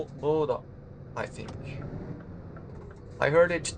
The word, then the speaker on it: Bodø: Well, it's written with the O, which is crossed out, and yeah, it's probably pronounced like I tried it to do.